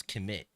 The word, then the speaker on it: Kemet: It's not Kermit, it's Kemet. And even my mom spelled it the way that people would pronounce it so they could pronounce it easier.